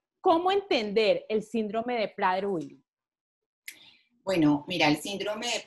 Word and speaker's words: Prader-Willi: María Elvira García es ingeniera industrial y actualmente es la presidenta de la Asociación Colombiana del Síndrome Prader-Willi. Voy a pronunciarlo así. ¿Es correcto, María Elvira? Es correcto, Ivette, es correcto.